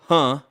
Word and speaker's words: Huh: So the allegations were leveled against Altria and Juul board members Nicholas Pritzker, Ho Young Huh, legit, his last name is spelled H-U-H.